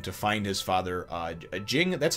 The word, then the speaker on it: Ging: find his father uh Jing that's how they pronounce it in in Japanese they pronounce it Jing but obviously it's g i n g so I don't know if it's ging or Jing I'm going to go